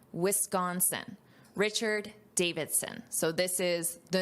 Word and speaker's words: Wisconsin: Notice this pronunciation, Wisconsin, Wisconsin.